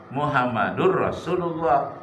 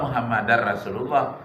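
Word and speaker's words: مُحَمَّدٌ رَسُولُ ٱللَّٰهِ: Muhammadun Muhammadur Rasulullah Lailahaillallah Muhammadur Rasulullah bukan Lailahaillallah muhammadar rasulullah Lalu kapan dibaca muhammadan Apabila ada Ashadu di awalnya Ashadu Alla ilahaillallah wa Asyhadu anna muhammadan muhammadar rasulullah Kenapa bacanya muhammadan karena ada Anna tadi Anna itu huruf nasab yang memberikan baris di atas Isim sesudahnya anna muhammadar rasulullah Kalau tidak ada Anna bacanya Muhammadun jadi Lailahaillallah Muhammadur Rasulullah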